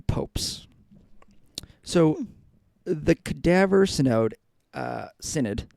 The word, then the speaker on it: synod: That's how you pronounce that. Synod.